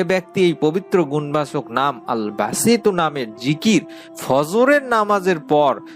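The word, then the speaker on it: الباسط: আল্লাহ তাআালার সেই পবিত্র গুণবাচক নামটি হচ্ছে বাংলা উচ্চারণ হচ্ছে আল বাসিতু। আমি আবারও বলছি আল বাসিতু।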